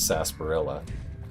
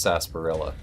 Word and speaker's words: sarsaparilla: with sass, so they drop the R. Yeah, it's always spelled like that, but I'm like 99.9% sure it's sarsaparilla. You can quote me on that. I will stake my reputation on it being pronounced sarsaparilla.